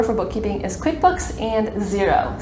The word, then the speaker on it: Xero: bookkeeping is QuickBooks and Xero spelled with an X my favorite and I